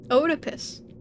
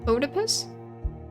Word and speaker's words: Oedipus: you so shot not how it's pronounced Oedipus Oedipus Oedipus I thought it was Oedipus my entire life I did not know how to pronounce that I know who